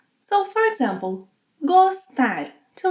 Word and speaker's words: gostar: So, for example, gostar, to like. In the infinitive, it has a closed O sound.